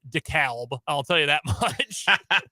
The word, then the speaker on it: DeKalb: Illinois it's funny it's DeKalb in in Illinois but like in Georgia it's DeKalb yeah is silent l isn't English great what a great language